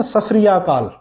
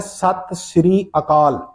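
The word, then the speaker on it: ਸਤਿ ਸ੍ਰੀ ਅਕਾਲ: کرتے ہوئے نہیں دیکھا۔ وہ کہتے ہیں نا ست سری اکال، آپ نے سنا ہوگا، یہ صحیح تلفظ نہیں ہے، یہ صحیح تلفظ اس جملے کا ہے ست سری اکال۔ اب ست سری اکال کا مطلب کیا ہے؟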